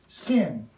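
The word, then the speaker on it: שׂ: is the shin but when the vowel marker is on the opposite side it's actually pronounced sin we take the shin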